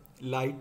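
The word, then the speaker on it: lighttpd: फिर बात करेंगे लाइट TPD के बारे में। लाइट TPD pronounce as लाइटी is also a free web server that is distributed with the free BSD operating system.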